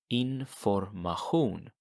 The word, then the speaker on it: information: So information is pronounced as information. Information. So see if you can pronounce that one more time. How do you say information in Swedish? Information. And notice that the Asian, the sh sound, becomes a ch sound, almost as if you're